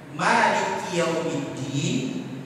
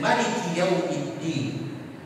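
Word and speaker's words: مالك يوم الدين: Ada dua cara membacanya, panjang dan pendek. Maliki Yaumiddin dan Maliki Yaumiddin.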